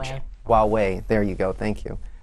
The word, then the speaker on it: Huawei: Not like, say, Huawei, I don't know how to pronounce it. Huawei, there you go, thank you.